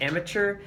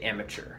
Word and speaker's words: amateur: And also with your pronunciation of amateur, don't stress the mature part of that. You really stressed mature, like amateur. Better to say amateur. Just, yeah, no stressing of mature.